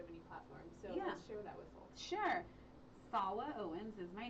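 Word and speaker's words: Salwa: clubs so yeah sure fawa Owens is my name I have to spell it okay s-a-l-w-a it's like Salma but with a W and Owens and uh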